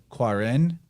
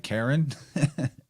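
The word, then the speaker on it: Qarin: And then there's in Islam a being called the Quarin, or I think you would pronounce it kind of like Karen, and it is basically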